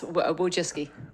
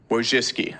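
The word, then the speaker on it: Wojcicki: Winski, is that how you pronounce it? Yes. Wiski. Wiski.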